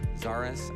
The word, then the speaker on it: Zarus: There was a car made by Toyota that stopped production in 2020 that has the correct pronunciation if you just replace the first letter with a Z. Zarus.